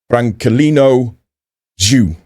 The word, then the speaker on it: Franculino Dju: we're going to look at Branolino Zu. I am reliably informed by YouTube that that is the correct way to say this chap's name.